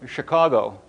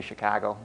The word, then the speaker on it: Chicago: I'm originally from Chicago. I said it right that time for those of you who are, usually I say Chicago, see whose ears perk up.